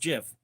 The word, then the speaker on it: GIF: whole people don't understand it's supposed to be pronounced GIF that file is supposed to be pronounced GIF and it always has been and you